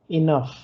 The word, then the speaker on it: enough: Se pronuncia enough, como se termina en F. Enough. A veces es difícil aprender a pronunciarlo porque lo leen y dicen enough, enough, enough. No, es como si fuera I, luego no, y luego una F.